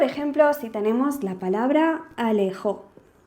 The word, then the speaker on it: alejó: Como por ejemplo si tenemos la palabra alejó. Alejó, si la dividimos en sílabas, tenemos la A, tenemos le y tenemos jo. Y el golpe de voz, es decir, la sílaba tónica, la hacemos en jo.